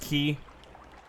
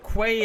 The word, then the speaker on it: quay: much is the high middle ages oh it's pronounced ki hmm I don't like that though Kawai actually kwai actually sounds like it's water-related ki sounds like